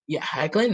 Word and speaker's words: Hoechlin: Superman with Tyler Hoechlin, which if not Hecklin, anyone I doesn't think is know, how it's pronounced. Hecklin is that is it? Okay, I think Hecklin. so. I think so. That's how I've heard it pronounced.